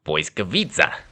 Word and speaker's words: Błyskawica: It's not an L, it's a W. And the WIC, it's not actually WIC, it's TZ, or TZ for you Yankees. And the sound it makes, at least in my mind, rhymes with pizza. So you say Błyskawica.